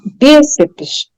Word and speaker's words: bíceps: Não, na regra da língua, esse bíceps, o PS é pronunciado mais rápido e ele faz parte da última sílaba, tá? Aí nós temos a penúltima bi e a última seps, que é rápido, tá bom?